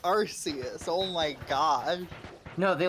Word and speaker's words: Arceus: they like still pronounced arceus in japanese it was most likely only changed in english because they didn't want it to sound like arse oh really okay so